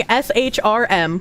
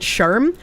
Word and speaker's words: SHRM: Well, I was saying SHRM, which is the acronym, but apparently they pronounce it Sherm.